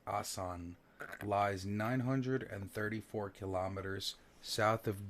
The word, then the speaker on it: Aswan: ma'am interested what ok Aswan are pronounced asan lies 934 kilometers south